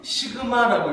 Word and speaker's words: 시그마: 이거는 뭐라고 읽어요? 시그마라고 읽어요.